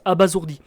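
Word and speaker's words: abasourdi: Kiran est tout simplement abazourdi et oui comme la vidéo précédente ça se ça se prononce abazourdi donc Emma lui explique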